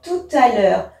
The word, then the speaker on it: tout à l'heure: c'est bien parce que le T ici fait une liaison avec le a qui est juste ici qu'on prononce ce t à tout à l'heure mais sans e donc